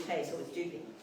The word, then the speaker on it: Dupuy: Lieutenant dup and we we knew it wasn't dupe so it was dupy D okay Dy is the Eastern Shore because